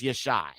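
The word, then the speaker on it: ישי: But that doesn't make any sense because Jesse, who is the father of Daoud, his name was Yashai. So the name Jesse in Hebrew or Abari is pronounced Yashai.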